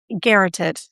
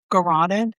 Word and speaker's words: garroted: Oh, don't know if I know how to pronounce this word. Garroted. Garroted.